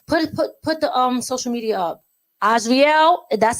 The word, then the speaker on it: Azarael: Azarael, that's how you pronounce his name.